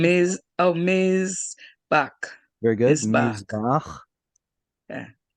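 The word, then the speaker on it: מזבח: I hear you saying T.S. Mitz. Can you say Miz instead? Mizbach.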